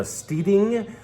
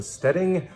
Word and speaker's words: Steading: This is called the Steeding, and that's how you say it, not the Steading. It's a Scottish term.